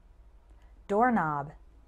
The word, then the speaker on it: doorknob: Doorknob. Note that the K in doorknob is silent.